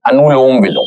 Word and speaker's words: अनुलोम विलोम: तो पहले coming towards the अनु अलोनोम विलोम अह अलमह कई लोग इसको अलग-अलग तरीके से प्रोनाउंस करते हैं। It's well like ए एन यू एल ओ एम अनुलोम विलोम that's अ correct pronunciation तो जस्ट पुट योर